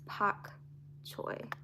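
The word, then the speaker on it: pak choi: So we'll all just be really surprised when it grows, because it's spelled P-A-K instead of bok choy, it's pak choy.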